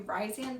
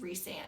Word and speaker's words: Rhysand: And if Gideon Cross does not give you Ryzian vibes, I don't know what to tell you. And yes, side note, I know it's pronounced Rhysand.